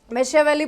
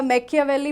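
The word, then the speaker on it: Machiavelli: मेशिया वैली बोलो या मैक्या वैली बहुत सारे लोग अलग-अलग प्रोनाउंस करते हैं।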